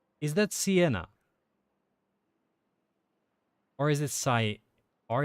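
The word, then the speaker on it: Siena: the the area yeah like the italian thing like i wouldn't be surprised that pl if plenty of people in the us pronounce it automatically cyena like a hyena but that's that's just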